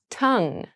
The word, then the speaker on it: tongue: Tongue. Tongue. Tongue. Tongue has a very interesting spelling, but we don't pronounce it with that gui sound at the end.